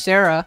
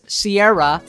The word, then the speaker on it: Sierra: bunch of stupid people why do people keep pronouncing my name as sarah please stop pronouncing my name as sarah it's sierra sierra do not want to